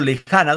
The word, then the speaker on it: lejana: Cuando digo lejana, ¿dónde va el acento? Lejana, muchachos. Lejana. ¿Dónde va el acento? En la ja, profesor.